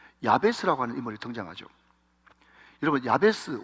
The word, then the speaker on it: 야베스: 하는 인물이 등장하죠 여러분 야베스 원래 발음은 야베쯔 이렇게 발음해야 되는데이 야베스가 뭔가 하면요 고통